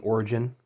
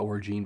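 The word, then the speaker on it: orogene: husband has killed their son because he's an Origine. I want to call it Origine, but apparently it's pronounced Origin, meaning that they can absorb energy, which is very frowned upon this world.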